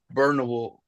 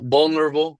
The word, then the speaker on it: vulnerable: He made Bo look burnable. Is that how you pronounce that word? That word? Uh, I mean, it makes sense. Vulnerable. Oh, vulnerable. Yeah, yeah, yeah.